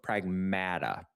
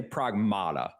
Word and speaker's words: Pragmata: Before launch I I would say pragmatada, right? Like when you when you see the title of this game, I'm like pragmata. No, pragmata. Uh because that's how they say it in the game.